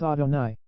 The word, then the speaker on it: Adonai: Adni, meaning Lord, and pronounced by us Adonai.